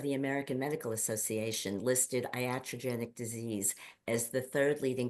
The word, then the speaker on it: iatrogenic: and it is the word it's a word iatrogenic I'm going to spell it for you it's i a t r o n e g n i c iatrogenic and if you look that up the definition